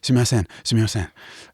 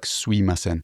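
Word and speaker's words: すみません: train, you just say sumimasen, which is often pronounced like suimasen.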